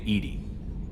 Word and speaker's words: EDI: Why are you named Edie? EDI is the phonetic pronunciation of EDI. That is an acronym for Enhanced Defense Intelligence.